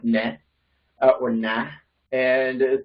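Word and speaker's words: nae: I never really studied it, but I do know that the word for not is like nah.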